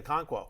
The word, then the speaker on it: Okonkwo: end of last year, but my guy, Chig Okonkwo.